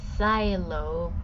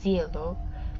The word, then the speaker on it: Cielo: It's pronounced Xylo, but it's spelled Cielo. At first when I first heard the name, I kept calling him Cielo, but then the name wasn't pronounced right, so I call him Xylo.